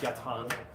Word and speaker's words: yatagan: there's a yatan here spelled yatagan but pronounced yatan all right if I